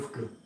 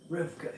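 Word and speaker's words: רבקה: How do you pronounce Rebecca in Hebrew? Rivka. Rivka, yeah.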